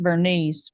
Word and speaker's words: Berenice: Well, if you're Southern, we pronounce it Bernice, but okay. Yeah, and so the reason why I say Berenice is because the birthday